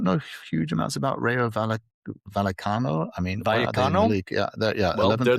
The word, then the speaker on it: Vallecano: And then the other one is Rayo Vallecano. Is that how I pronounce it? Vallecano.